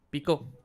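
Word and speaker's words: Picó: Pico. Pepino. Mi apellido es Pico. Con acento en la O.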